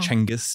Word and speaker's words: Genghis: So this is after the death of the great Genghis Khan, as we all know, or Chenghis, depending on the pronunciation, who died in 1227.